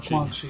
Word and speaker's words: Quan Chi: Quan Quan Chi.